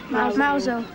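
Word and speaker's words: Mousehole: mouse hole to me how do you say it Mouser so the Cornish is mouse old holiday people come down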